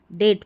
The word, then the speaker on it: debt: कर्ज जो रहता है ना, इसको डेट पढ़ते हैं, डेप्ट नहीं।